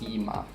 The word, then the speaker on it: Cyma: in 1874 schwab freighters establishing american distributorship and sima which is pronounced sima and let's see a little bit more of